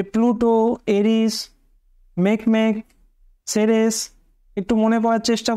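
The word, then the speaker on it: Makemake: প্রথমত দেখো প্লুটো, তারপরে ইরিস, হমিয়া, তারপরে মেকমেক, তারপরে হচ্ছে সেরেস। মেকমেকটা অনেকটা হাঁসের উচ্চারণের মতো, সেজন্য মনে রাখার সুবিধা।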